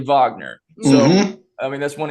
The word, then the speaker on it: Wagner: it's a little different it says Wagner but it's actually Vagner so I mean that's